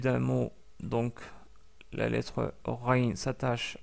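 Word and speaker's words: غ: que vous l'avez deviné, la lettre Rain ressemble, si ce n'est pas exactement la même chose, à la lettre R en français. Et on veut dire par là le R tel qu'il est prononcé à Paris.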